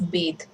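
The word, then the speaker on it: bathe: बेद बाथ noun है और बेद verb है एक्शन वर्ड है तो इसका जो प्रोनंसिएशन है वो चेंज हो जाता है और स्पेलिंग भी यहां प ई लग जाएगा एंड ी pronounce it एस बेद for example he इज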